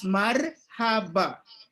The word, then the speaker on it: Marhaba: a h a b a Marhaba it is pronounced as Marhaba it is an interjection which means welcome or